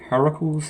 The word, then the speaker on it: Heracles: That's how you pronounce it, Heracles series.